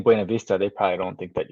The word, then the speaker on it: Buena Vista: And natives say Buena Vista. In 25 years here, I can't do that. It's Buena Vista for me.